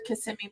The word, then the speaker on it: Kissimmee: you know what I'm saying I've always said Kissimmee because I'm I'm Spanish and so I thought that's how it was pronounced but I'm glad I know I was